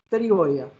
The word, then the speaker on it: pterigoidea: En español es medio silenciosa, no totalmente, es psicólogo, pterigoidea. ¿Está bien? No es así bien pronunciada como lo es en el portugués.